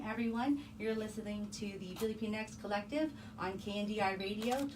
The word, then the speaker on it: Pilipinx: going to be about on our show we pronounce it as Philippine X but to also acknowledge